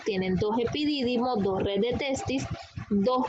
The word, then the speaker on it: epidídimo: Después le sigue el órgano del epidídimo, con acento en esta I, epidídimo, que es todo este